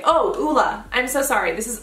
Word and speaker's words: Ole: Thank you, Ole. Oh, Ula. I'm so sorry. This is OLEHENRIKSEN. I always pronounce this brand incorrectly.